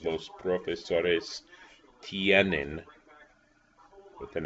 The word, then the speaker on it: tienen: The ustedes form is tienen, T-I-E-N, one syllable, and the other syllable, en, tienen.